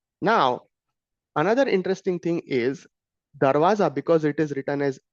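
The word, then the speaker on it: दरवाज़ा: So we consider the word do uh door which is uh pronounced as darwaza uh in Hindi uh in the danagi script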